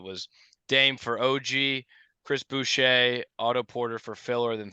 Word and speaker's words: Boucher: Boucher. I think it's Boucher. Bobby I believe it's Boucher. French. Yeah, Yes.